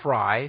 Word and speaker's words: Fry: Mitrione, M-I-T-R-I-O-N-E, and Claude L. Fry, spelled like it sounds, were captured by the revolutionaries.